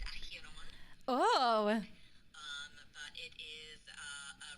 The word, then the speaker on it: Acheron: She's named after an actual river in Greece, I believe, pronounced Acheron.